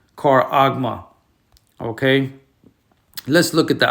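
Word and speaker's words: χάραγμα: It's called charagma. Okay, let's get the Greek transliteration. As you can see right there, the pronunciation, charagma.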